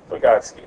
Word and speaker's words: Vygotsky: Yeah, Vygotsky. Very good, Chris. Yes. You're the man. Well, I can't pronounce it.